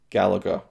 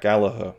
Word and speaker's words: Gallagher: a Touchdown is a video essay by Tag Gallagher. And A Horse or a Mary is a video essay by Tag Gallagher. Yeah. So I got caught up there thinking about the wrestler Jack Gallagher, who is pronounced Jack Gallagher, not Gallagher.